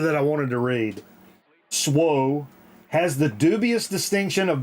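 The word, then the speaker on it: SWA: But it says, pronounced SWO, actually. It's pronounced SWO.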